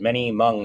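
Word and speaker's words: Hmong: And I'm looking for why would M people, this H is silent here, why would M people come to Minnesota from a refugee camp?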